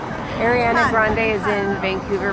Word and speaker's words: Ariana Grande: Oh, and tell Rachel and Sam what music singer's in town, but I got her name wrong. Oh, she called it like Ariana or something like that. But it's Ariana Grande and apparently so she's in town.